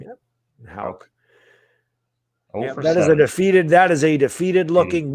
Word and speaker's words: Houck: Houck.